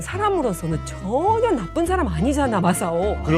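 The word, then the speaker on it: 正男: 일본어로 그 김정남의 정남을 바르 발음을 하면 마사오거든요. 아, 정남이 예. 마사오. 예. 마사오라고 하는데 그래도 그 뒤로부터는 마사오 숨은 팬클럽 대박이다.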